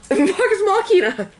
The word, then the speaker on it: Vox Machina: How do you pronounce it? Vox Machina.